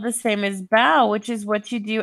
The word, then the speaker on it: Beau: It's pronounced bow. So, Bow. So when we mhm. have bow, the name, it sounds like bow, Mhm. like a ribbon in the hair for a girl.